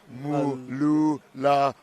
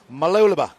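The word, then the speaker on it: Mooloolaba: 6, it's pronounced Mululaba. Try to say it fast. Mululaba. And Vitória Va'a from Brazil in lane 8. Sorry, 7. Malulaba.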